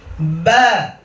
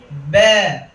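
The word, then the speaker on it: ب: বা বা বা বা। আমরা অনেকে এই বা বর্ণটিকে আমরা ইমালা করে বলি এইভাবে, ব্যা ব্যা, অত মাঝখানে এনে বলি ব্যা ব্যা, এরকম বলবো না, আমরা উচ্চারণটাকে ছেড়ে দিব।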